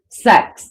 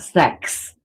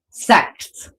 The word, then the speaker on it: sects: So that's why there's so many different Amish sects, like not sex, sects, like how do you say the word? SECTS, because they end up splitting churches and then making a new organization and stuff.